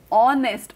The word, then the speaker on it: honest: अभी ऑनेस्ट बॉय, ऑनेस्ट बॉय में एच ये साइलेंट है, एच is silent. Therefore ऑनेस्ट, ऑनेस्ट में वोवल का साउंड हो रहा है, इसलिए हमने एन लगाया है.